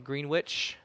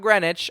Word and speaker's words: Greenwich: It's in the Aderondax in Green Witch, not Greenwich as I learned there because there's Greenwich, Connecticut.